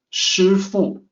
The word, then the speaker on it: shifu: is composed of two characters in mandarin it's pronounced differently sheer fool sifu with the s instead of sh comes